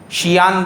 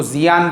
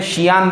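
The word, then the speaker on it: Xi'an: اس کو ہم لوگ انڈیا کے حساب سے کچھ لوگ اس کو زیان پڑھیں گے، وہ زیان نہیں ہے، وہ اس کو پڑھنے میں شیان پڑھا جائے گا.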